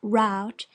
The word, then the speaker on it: route: Your answer, in the negative, naturally leads to more questions in reference to your intended route, always pronounced route, and wherever you are